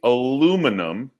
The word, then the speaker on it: aluminum: So we would say aluminum, and you would say Aluminium. So you have an extra I in there.